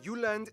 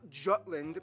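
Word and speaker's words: Jylland: go denmark is made of the uland not jutland peninsula that connects to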